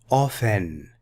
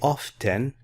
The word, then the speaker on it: often: day till the end I often silent e often you can also say often but that's not very common now often usually